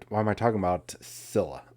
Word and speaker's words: Scyla: am i talking about scilla i'm just going to say silla because i think that's the way you pronounce it if you're not familiar